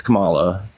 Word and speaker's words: Kamala: not saying it right, by the way. It's Kamala.